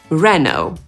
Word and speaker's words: Renault: Bo Amerykanie, tak jak Polacy, akcentują drugą sylabę, więc np. powiedzą /pəˈʒoʊ/. A z kolei Brytyjczycy zaakcentują pierwszą i powiedzą /ˈpɜːʒəʊ/ i /ˈrenəʊ/.